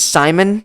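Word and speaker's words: Psimon: So anyways, next character, number 19, is Simon, spelt with a P, I believe. Right? Isn't Simon like silent P?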